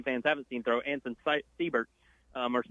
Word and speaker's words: Seibert: I will mention one name, though, who Tennessee fans haven't seen throw, Anson Seibert, or Seibert, I believe is actually how it's pronounced.